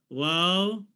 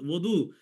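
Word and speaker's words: وضو: তো ফার্সি আর আর আহ, উর্দুতে হচ্ছে ওযু মানে জোয়াদ হিসেবে পড়ে।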